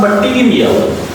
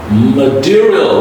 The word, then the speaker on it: material: So it's not material. No, it's material. This T is a D sound.